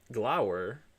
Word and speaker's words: Glower: Glower. Okay. I thought that was that was a V sound. I guess Germans pronounced this as were um I thought it was like most countries.